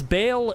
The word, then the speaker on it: Bale: really does well it's because Bale is I mean the same pronunciation and almost the same spelling as bale as in a as in like the old English sense of like evil Bad cursed in